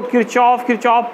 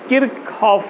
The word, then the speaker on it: Kirchhoff: लोग इसको किरचॉफ पढ़ते हैं, लेकिन सही प्रोनाउंसिएशन किरचॉफ होता है।